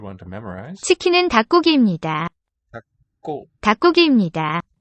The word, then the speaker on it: 닭고기: 닭고. 닭고기입니다. L written here, but it's silent in this syllable there.